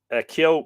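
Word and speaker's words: ceo: Kyo pronounced KYO, one syllable, the Druidical or magical fog, which very often figures in Irish romances and songs, both ancient and modern.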